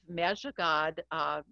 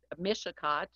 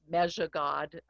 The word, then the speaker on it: Mishicot: And since the story of Chief Mejigod, Mishicot, it's pronounced Mejigod, the original pronunciation of Mishicot, and the Potawatomi